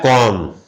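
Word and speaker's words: comb: vertical stroke B है लेकिन हम जो बोलते हैं बी साइलेंट होता है कॉम बोलते हैं यह साइलेंट होता है इससे कोई लेना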